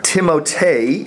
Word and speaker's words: Timothée: Timothée is how Stephen tells me he pronounces his name.